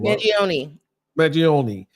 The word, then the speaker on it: Mangione: How do we pronounce this guy's name? I want Jack's name. Mangione.